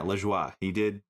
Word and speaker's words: Lajoie: And it's, yeah, Lajoie.